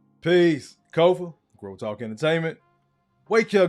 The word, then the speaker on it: Kofa: Again, I am your humble host, Kofa, K-O-F-A, not coffee, not kufu, not Kofi, or any variation thereof. Kofa rhymes with sofa.